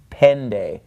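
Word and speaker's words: πέντε: followed by the knee it is pronounced more like an English D so instead it's not Penta it's pen day alright so enna vo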